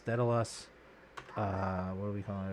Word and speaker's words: Daedalus: of call this one what how do they spell it d a wait d a e d a l u s dedice uh what are we calling it as a